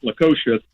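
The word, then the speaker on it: Lukošius: Do we really see something special between Labas Lukosius?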